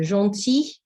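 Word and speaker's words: gentil: form of this adjective when it is feminine it is about g e n t i double l e and it's pronounced exactly the same so jean for the masculine john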